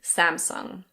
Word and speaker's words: Samsung: I think in Korean it's something like Samsung. You can let me know in the comments if you speak Korean, but in any case, in English we say Samsung.